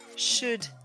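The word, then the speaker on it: should: dernier petit point pour coude chaude et wood le l n'est pas prononcé voilà c'est tout pour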